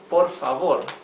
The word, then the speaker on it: por favor: Actually, we should add the word por favor.